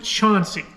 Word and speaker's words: Chauncey: actually spelled Chansey c-h-a-n-c-e-y the locals pronounce it Chauncey because Ohio because Ohio